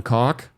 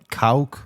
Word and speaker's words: Kauk: Now, a gentleman by the name of Ron Koch, I told you there was going to be some cock talk. Cool. It's pronounced Kauk. Kauk?